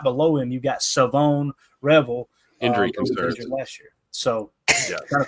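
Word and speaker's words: Shavon Revel: this right it is savone Revel is how you say his name Savon Revel I'm sure I'll forget that by tomorrow like take the H out there what are we doing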